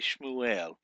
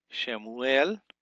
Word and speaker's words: Shemuel: Shemuel, or some people say Shmuel, but really I like to pronunciate the Shava. Shemuel.